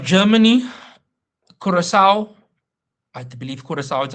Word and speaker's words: Curaçao: Next, we have Germany, Curaçao, I do believe Curaçao is how you pronounce it, Côte d'Ivoire, Ivory Coast, and Equad- Ecuador.